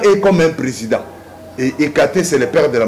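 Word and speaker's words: Hécate: je vais péder ekate ça s'écrit h e c a t e ekate c'est lui le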